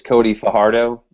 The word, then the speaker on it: Fajardo: He pronounces it both ways. We discussed in pre-show. I guess technically it's Cody Fajardo, but he just kind of deals with it.